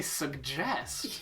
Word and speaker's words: suggest: Like, in French, they actually pronounce the first G as like a G, whereas in English, we just use a glottal stop.